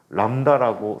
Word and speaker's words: 람다: 때 그리스 문자를 써요 람다라고 쓰는 그리스 문자를 써요 뭐라고 읽어 이거 뭐라고 했는데 들립자가 아니고 람다 그리스 문자야 람다야 어 한글로 써 줘